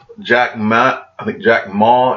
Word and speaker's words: Jack Ma: And he's the favorite son of Jack Ma is how you say it, over that started Alibaba, which is the largest company in China.